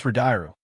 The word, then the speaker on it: Redice: Wiping a tear from her eye, Essel smiles brightly and corrects his pronunciation. It's Redice.